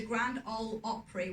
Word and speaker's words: Grand Ole Opry: You got inducted into the Grand Ole Opry, which I have pronounced correctly.